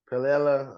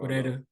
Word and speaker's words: Pereira: I don't see Pelela. I said his name wrong. Pereira.